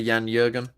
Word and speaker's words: Jürgen: Mike, this guy Jan Jürgen, he was pretty good yesterday. Is that how you say it as a German? Perfect.